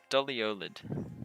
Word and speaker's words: doliolid: how do you pronounce that? Doliolid.